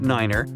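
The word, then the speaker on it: niner: some Mega secret code it's the way Pilots pronounce certain numbers in their pilot English tree stands for three five for five and ner is used instead of nine such pronunciation helps to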